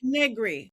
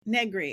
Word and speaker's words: Negri: Negri. Negri. It rhymes with nothing.